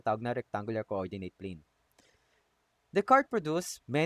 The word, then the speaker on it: Descartes: Rene is Rene Descartes o Descartes. Okay? Yan ang kanyang pronunciation ng kanyang pangalan.